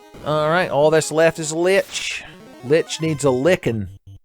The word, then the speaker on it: Lich: Alright, all that's left is Lich. Lich needs a licking. Or a lichin', as you might accidentally pronounce the name of that substance that like grows on the side of trees.